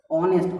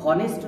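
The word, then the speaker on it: honest: এটা এইচ দিন উচ্চারণ কি অনেস্ট, অ, অনেস্ট, হনেস্ট নয় অনেস্ট, অ, অর্থাৎ স্বরধ্বনি আমরা করব এন।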